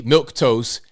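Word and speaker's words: Milquetoast: here's what he put out he says Kelly milk toast and you don't spell it that way it's m-i-l-q-u-e not am I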